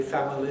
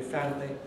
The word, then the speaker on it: family: Just like family, can be family, but is usually family.